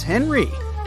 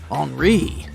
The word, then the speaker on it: Henri: And this is Henry, but it's more correct to pronounce his name as Henri, since he's French.